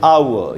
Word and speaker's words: hour: आर होता है वो साइलेंट होता है, उसका उच्चारण नहीं होता, इसलिए इसको हम बोलेंगे आवर।